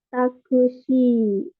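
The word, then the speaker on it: タクシー: Ya, jadi ini takushi. Ada tanda ada tanda garis ini berarti dibacanya panjang ya.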